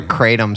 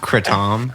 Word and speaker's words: kratom: conspiracy dudes you know it's actually it's pronounced kratom kritam this is my name